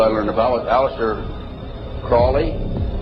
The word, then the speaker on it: Crowley: that I developed information about was an individual I learned about was Aleister Crowley. He likes to have his name pronounced Crowley to rhyme with holy.